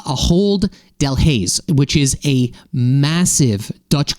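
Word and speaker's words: Ahold Delhaize: Shop is owned by I believe believe it's pronounced uh aold Del Hayes which is a massive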